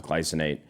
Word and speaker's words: glycinate: I thought it was glycinate, bro. I've been saying it wrong the whole time. It's glycinate.